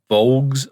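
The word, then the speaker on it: voulges: And the bulk of the hobgoblins armed with vogs, I believe is how you say the word.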